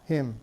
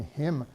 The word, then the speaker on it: hymn: shows up in bombardment the silent n in him shows up in hymnal and so on down